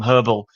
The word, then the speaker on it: herbal: They may be annoyed that we have to drop the H from herbal or we have to